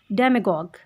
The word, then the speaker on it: demagogue: इस वर्ड की प्रोनाउंसिएशन कुछ इस तरह से होगी डेमागॉग.